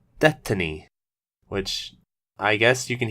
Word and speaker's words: DeathTiny: be pronouncing it as death tiny as I think it would read you know to most normal people but apparently the name is a silly pun on the word destiny so it's pronounced destiny which I guess you